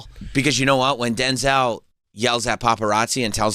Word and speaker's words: Denzel: His real name is like his mother, his birth name is Denzel, but everybody has been saying Denzel, but his real name, the correct way to pronounce his name is Denzel.